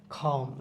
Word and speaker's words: calm: খাম, CALM, এখানে উচ্চারণটা মানে এলের উচ্চারণটা থাকতেছে না। খাম।